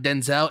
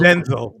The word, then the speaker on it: Denzel: It's not Denzel, it's Denzel. Denzel.